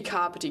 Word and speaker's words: Kāpiti: Let's be kāpiti college, not kapiti college.